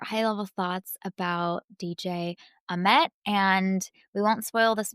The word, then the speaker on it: Ahmet: Let's talk about DJ Ahmet. I think I keep saying Ahmet, and I've also heard in the movie that they say Ahmet with the accent on the second syllable.